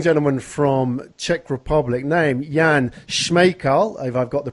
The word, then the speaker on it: Jan Smejkal: we have young gentlemen from Czech Republic named Yan Schmeichel I've I've got the pronunciation right him he's just kind of briefed